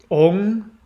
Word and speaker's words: Om: words and twelve syllables four words are ong which is om if you see om it's actually pronounced with an ng that stimulates the pineal